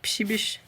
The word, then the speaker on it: Przybysz: swatches, I have the Psibish Gray, which is a really, I want to say, very Polish name. It's kind of difficult to pronounce and to figure out, but it's PRZYBYSZ.